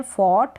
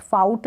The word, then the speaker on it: fought: फिर सेकंड और third form same है, फॉट और फॉट, प्रोनाउंसिएशन है फॉट, फॉट, फाउट ना पढ़े, फॉट इसको पढ़े, FOUGHT, फॉट।